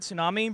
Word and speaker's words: tsunami: Like what made them do it and say, you know, let's pronounce it tsunami, but let's put a T in front of it.